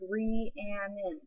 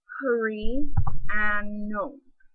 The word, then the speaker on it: Rhiannon: is originally Welsh, and in Wales in the UK, they pronounce it differently, and it's not just their accent. Because in England or in America, we're just like Rhiannon, but in Wales, they're like hurry and no, a bit, except it.